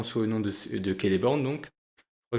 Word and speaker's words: Celeborn: le nom de de keleborne donc je CIS que j'ai dit Celeborn avant c ça se prononce k donc keleborn le cliffender de fin